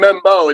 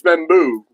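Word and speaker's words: Membou: Membu I've been saying Mebo. It's Membu.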